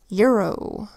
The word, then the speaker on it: euro: First word is euro. Euro is spelled with our EUR phonogram and an O that makes a long O sound.